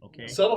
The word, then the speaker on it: subtle: supposed to be determined subtle has a silent b in it by the way all